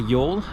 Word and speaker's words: Youghal: Um but yeah, so today we're heading to Yol. Um, for any English speakers that is spelled Yugle. Um, we didn't know that. Uh, the Irish are quite happy to correct you.